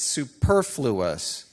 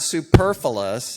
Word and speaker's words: superfluous: the day and said it's superfluous it's not superfluous it's superfluous which who knew I mean all my life I've said it wrong and she really jumped